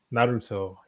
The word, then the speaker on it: Naruto: Naruto, how do you pronounce that? Naruto, yeah, Naruto.